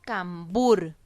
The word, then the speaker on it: cambur: Si yo tengo la palabra cambur, yo la separo en sílabas para identificar un poquito mejor cuál es la sílaba tónica. Cambur. En la palabra cambur, la sílaba tónica es bur.